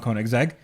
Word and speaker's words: Koenigsegg: I actually talked to Christian von Koenigsegg. Okay. I am name dropping here, and he says the name of the company is Koenigsegg. That's what he said. He said, "Hey, my name is Chris Koenigsegg.